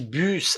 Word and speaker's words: bus: Perceba que bus a gente pronuncia esse S, é uma pequena exceção, tá? No bus a gente pronuncia o S, tá?